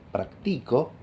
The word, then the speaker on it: practico: Si yo digo practico, que en castellano es una voz de 3 sílabas, ¿no? La segunda sílaba es la que carga con el tono alto, ¿verdad? Digo, practico. La nota más aguda está en el medio, ¿verdad?